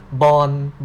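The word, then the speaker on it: บอล: So you can see that in Thai we cannot pronounce the final consonant like the English speaking country. This is the loan word actually. You can see that when Thai want to speak your language, a ball. In your language, you say this a ball, right? But we cannot say the final consonant like you said, so we have to pronounce it as bon instead.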